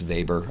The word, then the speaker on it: Weber: So the book mentions a guy named Max Weber, which is spelled Weber, but it's Max Weber on page 203.